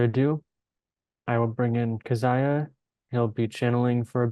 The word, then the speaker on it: Kazaya: workers and Earth's citizens you may call me by the name of kaziah as that is the the closest and most simple human pronunciation that you can understand of my name I often refer to